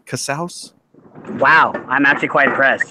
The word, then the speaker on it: Casaus: a Martin Cassell am I saying that correctly Casals Wow I'm actually quite impressed you did say